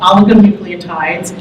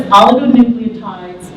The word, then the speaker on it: oligonucleotides: ASOs are also called oligonucleotides, and I really wanted to say that because it took me 5 months to learn how to pronounce that correctly. So they're known as oligonucleotides, antisense oligonucleotides, that's the ASO part that you